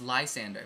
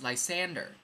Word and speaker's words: Lysander: learned that last night I thought it was Lysander but it's Lysander I'm saying my name wrong all these years what's